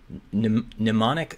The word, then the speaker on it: mnemonic: Mnemonic start. The M is silent. Silent M. Okay.